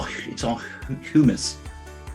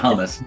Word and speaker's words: humus: It's all humus. Humus. How do you say that? It's not hummus. That's a delicious treat.